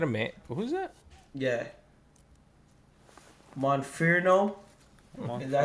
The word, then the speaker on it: Monferno: Monferno. Is that how you say it, Juan? Yeah, Monferno.